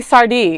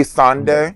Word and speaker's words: Sandé: Emily Sardé, right? Yeah. Like, yeah, Emily no. Sandé, yeah. No, say it right. Next to me. Say it right. Emily Sandé. Sandé, that's how it is.